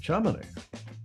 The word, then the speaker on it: Chamonix: Chamonix.